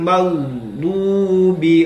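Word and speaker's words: المغضوب: membunyikannyairil magbi magubi nah jangan sampai kita terputus di situ tetaplah meng mengalir ya tetaplah mengalir dan tidak berhenti magdu tidak berhenti magdu tapi tetaplah dialirkan ghairil magdubi alaihim magdubiaiim kemudian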